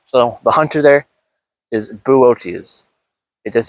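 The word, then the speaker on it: Boötes: Okay, I've been informed that that constellation is pronounced Wait, how was it? How was it? Buote. Um, so the hunter there is Buote.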